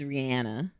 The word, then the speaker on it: Rihanna: It is Rihanna, but people do what they do.